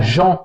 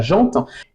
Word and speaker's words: gent: prononciation de dire la jante féminine oui c'en est une et on va expliquer pourquoi il me semble que vous ne dites pas la dente vous dites la dent vous dites pas la